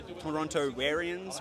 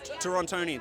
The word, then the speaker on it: Torontonians: So I appreciate all the, how do you say it, Torontoarians? What do we call Torontonians. Torontonians.